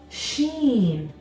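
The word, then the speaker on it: ش: three dots on top this letter right here is called Sheen Sheen the letter she makes a sound which is similar to the sh sound in English like the word she seen now for the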